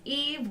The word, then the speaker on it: Yves: back my name is eve ves Eve the S is silent if you are watching